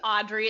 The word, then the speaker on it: Audriix: So my name's Audrey. It's spelled Audriix. The X is silent.